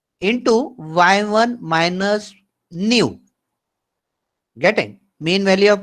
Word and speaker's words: nu: And this is another symbol that is called as a nu. How to pronounce it?